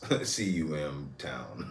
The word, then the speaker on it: CMTOWN: right um so uh we got one from come toown come toown come down yes I believe this is um uh Mr did you spell it for me well just it's just how it sounds cuum town okay it's the C is what you thought